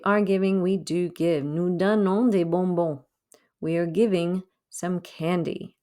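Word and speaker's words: nous: giving we do give nu we are giving some candy again don't pronounce any of those final s's none of those final s's got pronounced okay no means we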